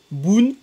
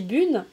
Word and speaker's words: Bune: C'est mamie Bune, Boone ou Bun? Il faut juste prononcer le U, c'est le plus important. Mais mon père, il dit Boone, moi je dis Bune, et il faut juste pas prononcer.